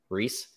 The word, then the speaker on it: Rhys: rice how do you pronounce Rhys Reese yeah freaking Reese's Otto